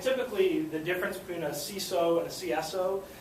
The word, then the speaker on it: CISO: the difference between a ceso and a CSO ceso is usually how people pronounce c information security officer usually the difference is